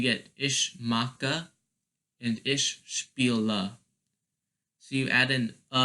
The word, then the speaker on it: spiel: And remember, the pronunciation, you have to pronounce the e, because the rule of IE and EI, you always pronounce the second vowel. So it's pronounced spiel, because you pronounce the E instead of the I.